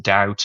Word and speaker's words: doubt: We do have some examples where the sound is never changed or is never pronounced like the, you know, B and debt and doubt and the L in salmon.